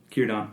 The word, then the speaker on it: Círdan: Círdan, yep. Círdan, the shipbuilder. So the burning of the ships, is this related at all? Did Círdan, was he there when those ships were burned? Mm-hmm. No, Círdan's been in Beleriand the whole time.